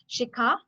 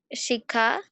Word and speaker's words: शिखा: In the first line, it's try to pronounce Shikha शिखा Vichitre.